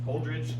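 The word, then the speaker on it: Holdrege: Holdridge, Nebraska. Yeah, we know where that's at. Does somebody know? That's from Hastings. Little order here, eh? Sergeant at Arms on you, Mr. Kelly. I know where Holdridge is at.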